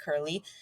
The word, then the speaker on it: Kurle: Google me I'm Curley it's k-u-r-l-e it's spelled funny but it's pronounced curly and there's no other